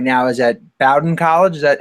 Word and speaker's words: Bowdoin: Right now is at Bowdoin College. Is that how you pronounce it, right, Coach? Bowdoin College, up in Maine.